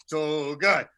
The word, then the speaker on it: Togiai: Tommy Togai, Togiai, and I hope I'm pronouncing that close. Togai.